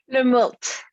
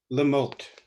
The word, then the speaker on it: Lemoult: Lemoult. Lemoult. Well, it's how it looks. You then. just pronounce all the letters, which is unusual for French.